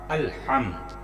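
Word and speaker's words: الْحَمْدُ: ہیں ہم اس کے۔ الف لام زبر ال، ہا میم زبر ہم، الحمد الحمد، یہاں پہ جھٹکا لگے گا۔ الف لام زبر ال،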